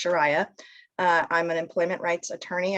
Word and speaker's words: Sharia: Most people say it wrong. It's Shariah.